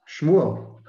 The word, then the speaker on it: Shmuel: Shmuel. Wait, whoa, what was that? Shmuel, that's the Hebrew for Samuel.